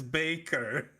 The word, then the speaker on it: Bakker: Yeah, but but I've heard I've heard him say it as Baker.